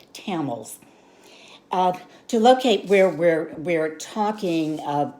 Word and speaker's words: Tamil: This is pronounced Tamil.